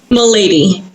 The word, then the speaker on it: Milady: hear you say it my lady my lady okay i put the accent in the wrong place all right so we have milady uh she is